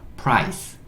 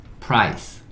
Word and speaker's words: price: 프라이가 됐고 그 다음에 마지막에 C는 여기 키읔 아니면 쌍시옷인데 키읔을 주로 내긴 하는데 지금은 쌍시옷. 네, 그래서 스 마지막에 있는 E는 묵음. 그쵸? price, price, price 이렇게 읽을 수 있고 price의 의미는 가격이에요.